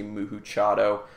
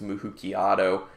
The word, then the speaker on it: Moo-HooChiato: is a the Muki I'm assuming that's how you say it some people might say muhu chado I think it's Muk kiato uh it's the chocolate